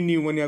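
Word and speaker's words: pneumonia: न्यूमोनिया, पी न्यूमोनिया कहते ना, एटा को न्यूमोनिया बोली कहते से पी साइलेंट अच्छी।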